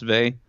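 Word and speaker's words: Weil: an affinity with Simone Bey we have heard of Simone Bey she's a this is a book called gravity and grace but it says while but I guess it's pronounced vay okay she was a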